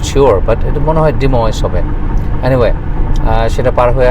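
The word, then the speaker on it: Des Moines: ডেসময় হবে not sure but এটা মনে হয় ডিমেজ হবে এনিওয়ে সেটা পার হয়ে আসলাম আর এখন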